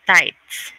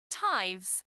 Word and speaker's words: tithes: c o taxis or something so is it tights it's like tax taxes tight ten ten ten percent ten percent of your possession my correct in my pronunciation like diets yes right right okay tithes okay she says five not tights ties hi